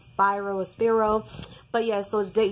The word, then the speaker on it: Spiro: head and give him the attorney at expire OS Piro I think their throats by Rose Hearn are sorry pronounced spiro spero but yes those day jay-z you know